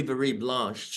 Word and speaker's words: Virieblanche: I was able to hear and thankfully you pronounced my name correctly as well Louis bie blanch to to have a name and to not